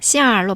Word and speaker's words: 馅儿: 그런데 말할 때 보통 얼을 붙여서 말하기도 해서 시엔에 얼이 붙으면 N 발음이 부금 처리돼서 시알로 발음하게 돼요.